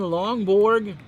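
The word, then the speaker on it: Lonborg: So Ryan Lawnborg, kind of rhymes with lawnmower, and Reggie Smith here in the top of the 7th.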